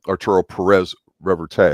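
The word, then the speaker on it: Arturo Pérez-Reverte: a Spanish guy uh Arturo not aruro fente that's a u Arturo Perez reverte I believe it's how you pronounce it and he's got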